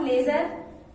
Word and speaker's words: ledger: अगला और जो आखिरी टर्म है वो है आपका लेजर, जिसका स्पेलिंग होता है LEDGER, लेजर।